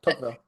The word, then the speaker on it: Tocqueville: How do you pronounce that word? Tocqueville.